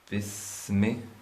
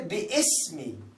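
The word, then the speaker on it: بِسْمِ: So, when we write like this, bismi, many people they say bi-ismi. Like they pronounce like bi-ismi, iqra bi-ismi. That is wrong. Why? Because there is no hamza on it.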